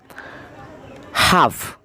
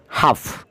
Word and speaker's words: half: টক, TALK, টক, এখানেও এল এর উচ্চারণ হবে না, এলটা উজ্জ্ব থাকবে, সাইলেন্স থাকবে। হাফ, HALF, হাফ, HALF, হাফ।